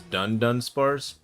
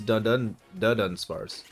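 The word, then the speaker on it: Dunsparce: I thought it was Dun Spars. It is not. It is Dun Spars.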